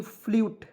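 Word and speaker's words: flute: तो देखिए यहाँ पे FLUT फ्लट हमको पढ़ते, लेकिन अंतिम में ई आ गया, इसका उच्चारण यू का उच्चारण हम लोग करेंगे यहाँ पे, ठीक है।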